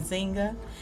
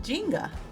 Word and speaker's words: Njinga: name was being pronounced I'm used to hearing it pronounced in Zynga and in this movie they were saying Jenga so it kind of threw me off at first but later